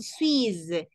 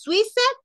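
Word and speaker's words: Suisse: Suiz, Suiz, no decimos Suiza, no, Suiz, terminamos en las S.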